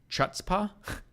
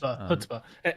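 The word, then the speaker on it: chutzpah: give new meaning to the word Chutzpa. Is that how that's pronounced? Hutzba.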